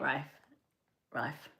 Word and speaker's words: Rife: oh, Matt Rife.